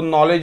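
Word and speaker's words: knowledge: आहे हा सायलेंट आहे इथे नी के सायलेंट आहे नी म्हणतो नाईफ म्हणतो नॉलेज म्हणतो नॉट म्हणतो किंवा नॉक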